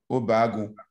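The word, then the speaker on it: Obagwu: Olakunle Lawal and Fred Ajefu Obagu.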